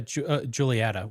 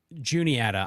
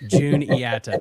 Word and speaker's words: Juniata: what about the uh juliett we have uh Juniata I know the comment section here my apologies my my Virginia PR pronunciation as Matthew says there is no Julie here yes June yata thank you uh PA